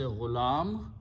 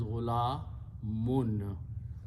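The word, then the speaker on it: غلام: When we stop, we say ghulam, but the actual word is ghulamun. Okay, ghulamun. Two dhammas or two pesh.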